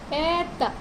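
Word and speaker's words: это: दोम, ऐता, ये हो गए वो शब्द जिनमें स्ट्रेस जो है वो फर्स्ट वॉवल के ऊपर ही है।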